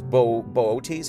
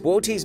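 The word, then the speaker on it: Boötes: That's real name is Bootes. I think is how you say that.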